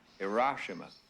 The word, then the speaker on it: Hiroshima: president would like to see you sir it's pronounced hiroshima if you're going to remove it from the